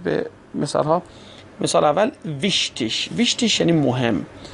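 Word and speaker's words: wichtig: آلمانی، در این صورت گ رو دوستان ش تلفظ میکنن. گ به صورت ش تلفظ میشه. دقت بفرمایید به مثال ها. مثال اول ویشتیش.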